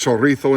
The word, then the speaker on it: chorizo: with Spanish chorizo it's already cooked it is pronounced chorizo in Spain most of Spain anyway probably not